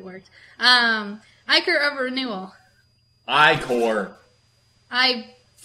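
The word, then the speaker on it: ichor: with magical I core that's pronounced I core so at iqor just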